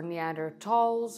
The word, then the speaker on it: Neanderthals: the truth about neanderthals or neander talls or whatever you want to pronounce it I prefer neanderthals because it's easier for me but whatever the truth